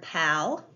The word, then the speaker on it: pal: How many vowel sounds do you hear in the word pal? That's right. There's one vowel sound. This is a closed syllable. The A says ah, pal.